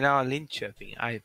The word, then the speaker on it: Linköping: Linköping. Okay. That's how it's pronounced, is it?